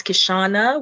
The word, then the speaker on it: Kishaunna: Don't let the U throw you off. The other N is unnecessary. It's a Caribbean thing. Oh my goodness, you're really gonna do that? I mean, how do you pronounce double N? No. No. It's it's a style. It's style. I don't know if there's any other way to pronounce double N than just N. So guys, it's Kishaunna.